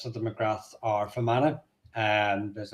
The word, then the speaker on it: McGrath: Um how do we how do we pronounce McGrath? McGrath. The Irish pronounce it McGrath.